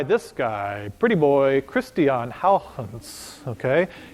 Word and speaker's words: Huygens: So the first clocks were made by this guy, pretty boy, Christian Huygens, okay? It's not pronounced Huygens, it's pronounced Huygens is the proper way to say it.